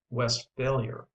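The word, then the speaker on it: Westphalia: overrated it is pronounced West failure with the accent on the last part where it belongs in Germany however there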